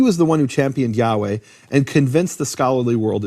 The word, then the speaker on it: Yahweh: years by the Christians, is it Yehovah, which the Jews seem to think it is, or is it Yahweh? And then Gesenius ends the discussion, it's Yahweh.